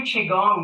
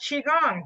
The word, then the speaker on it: Qigong: So again, we've done just 2 Qigong movements, both from the 8 pieces brocade Qigong set.